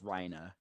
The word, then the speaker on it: Reiner: talking to Reiner, like Reiner was like, or I guess if you pronounce it the Japanese way, it's Reina.